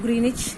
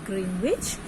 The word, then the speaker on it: Greenwich: and it passes through Greenwich near London. You pronounce this word as Greenwich, and you can also pronounce this word as Greenwich. Okay, so Greenwich or Greenwich, it's up to you.